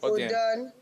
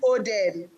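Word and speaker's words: Oden: The pronunciation is Odan. That's how it's pronounced in my local dialect. Yes. Okay. So, but everybody just is Odin.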